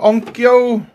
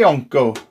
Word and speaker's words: Onkyo: Onkyo? How you say it, to be honest with you. Onkyo. We'll say Onko, alright? Onko it is, but going really Welshy, isn't it? Yeah, Onko or Onkyo.